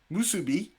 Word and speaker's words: musubi: mate what's up your turn your choices are musubi did i pronounce that correct you did very good and